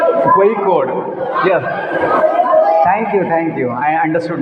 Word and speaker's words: Kozhikode: I was pronouncing Kozhikode, but I came to know that it's not Kozhikode, it's pronounced as Kozhikode. Kozhikode.